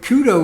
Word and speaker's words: cyto: and cyto see why the prefix for cell is in fact greek and it's it would be pronounced kudo because it's kappa uh upsilon tau omicron but kudo was already borrowed from